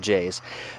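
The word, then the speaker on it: JAYZ: named J's on it J a Y Z pronounced not pronounced J Z as pronounced J's that guy was like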